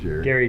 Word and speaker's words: Gary: Gary Jerry, because, there's a G there. That's how it's spelled. Right. Oh, God. But Jerry would be spelled with a J.